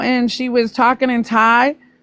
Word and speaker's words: Thai: Calling it thigh. It's Thai.